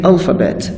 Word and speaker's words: alphabet: that all the time nouns are stressed on the first syllable do not forget this buried in your mind that nouns or stress on the first syllable so we say alphabet right okay ally alpha